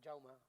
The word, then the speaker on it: Jaume: Ah, no, la J es, yo me llamo Jaume y no me llamo Jaume, me llamo Jaume. Porque en catalán la J se pronuncia diferente. Jordi.